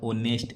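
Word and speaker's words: honest: लेकिन कुछ अपवाद होते हैं जैसे आवर ऑनेस्ट इनमें एच साइलेंट होते हैं।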